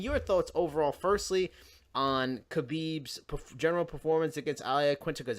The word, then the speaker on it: Khabib: I mean, your thoughts overall, firstly, on Khabib's general performance against Iaquinta, because that was a tough thing.